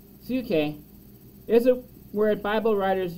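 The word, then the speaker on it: ψυχή: restored and renewed the greek word boon shay pronounced suke is a word bible writers use when talking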